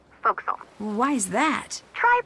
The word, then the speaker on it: forecastle: forward deck of a sailing ship but it's pronounced focus off why is that try pronouncing it like an